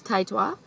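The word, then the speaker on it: Taetwa: person to enter so she knows but it's taitwa and um if you don't watch her Channel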